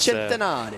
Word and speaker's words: Centenario: That was Centenario. Yeah, there you go. That's my best Italian pronunciation for you.